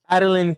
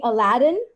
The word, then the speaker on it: Adeline: Adeline. Yay! All right, I said it right. Yes. As long as you don't call me Aladdin.